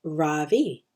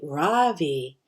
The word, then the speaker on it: Ravi: It's pronounced Ravi, with a soft Ra and a strong V. In Sanskrit, it means the sun. In America, people call me Ravi, with the stress on the first syllable, and that doesn't mean anything.